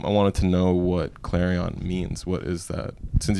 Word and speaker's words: Clarion: Clarion Clarion claran that's it's almost like saying clarinet yeah because I believe